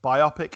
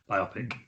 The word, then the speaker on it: biopic: Biopic or biopic? Biopic. I will say biopic, but Mark Kermode, film reviewer, says it should be pronounced biopic because it's the amalgamation of the words biographical picture.